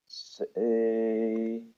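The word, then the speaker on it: Seishirō: Seishiro, and it's a long O sound, so we put in the u there, the extra u there.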